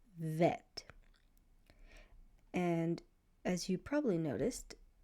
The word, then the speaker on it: Vet: And if it's making a V sound, it's going to be called vet.